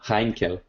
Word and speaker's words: Heinkel: some einken there you go heinkel all right well there you go you